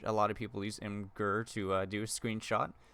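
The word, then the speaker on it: Imgur: lot of people use inger to do a screenshot apparently it's actually pronounced imager but uh in game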